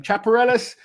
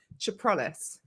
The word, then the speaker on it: Chaprales: Chaparelis. I know you guys have been laughing at me, so you absolutely butchered it.